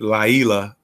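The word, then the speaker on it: Llaila: African holistic health by Layla Africa he's very familiar I know Layla Africa or some people pronounce it Lyla Africa all right African holistic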